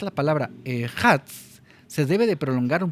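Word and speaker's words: אחד: Al pronunciar la palabra ejad se debe prolongar un poco la dalet.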